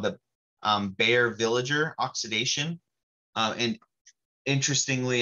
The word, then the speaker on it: Baeyer: it's called the um bear villager oxidation uh and interestingly enough bear that's the same bear as bare aspirin it's not spelled the same because it's been anglicized but bear that first synthesized